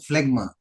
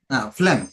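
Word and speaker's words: phlegm: no sir FL no FL okay then then it is okay because again in this word that letter G remains silent letter G remains silent so it should be pronounced as FL FL so AED this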